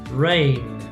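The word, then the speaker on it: reign: sanuvitch sandwich sandwich rain rain so the g silent climb climb the bee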